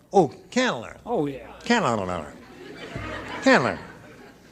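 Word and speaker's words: Candler: l e r oh canler oh yeah can canler how many people there well if anyin nobody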